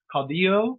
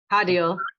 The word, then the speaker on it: Caudill: Today we are welcoming Caudillo. Is that how I pronounce it? I've never said your name out loud in front of you. Caudill. Is that Caudillo? Caudill, like a dill pickle.